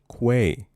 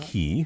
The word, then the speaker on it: quay: Quay. Mhm. Quay. Not Not- key.